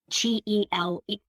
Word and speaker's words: tele: So if children are learning that, TELE is pronounced tele, like in television, telegram, teleport, telemarketing, and it's always spelled